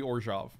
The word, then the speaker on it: Orzhov: Orzhov is how they say it.